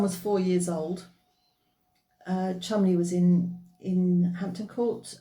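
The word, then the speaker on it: Cholmondeley: Uh we got to somebody called Chumley. It's pronounced Chumley, but it's spelled very differently.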